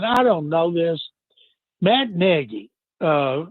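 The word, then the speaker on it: Nagy: don't know this, Matt Negi, uh, and it is Negi, even though it's spelled Naggie.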